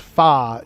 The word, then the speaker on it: pho: It's pronounced fa in Vietnamese language, which is what the soup is. That's what it is, but it's spelled PHO. in English letters, if that makes sense. So, I don't know. Fa. Fa's the real way to say it.